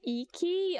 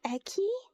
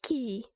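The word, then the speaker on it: Eiki: I'm sorry, I don't think it's pronounced Iki. I'm like, I've always pronounced it like Eki. 四季駅山ザナドゥ Yeah, Eki.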